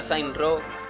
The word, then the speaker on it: Saints Row: Aunque se pronuncia Saints Row, por lo menos, porque la W no se pronuncia.